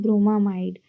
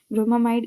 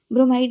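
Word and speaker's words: bromamide: इसको बोलते हैं ब्रोमामाइड। ठीक? तो इसलिए इसको उस वाले रिएक्शन में हमने हाफ मान ब्रोमामाइड रिएक्शन प्रोनाउंसिएशन करना है। ब्रोमामाइड इसी वजह से हम उस नेम रिएक्शन को बोलते हैं।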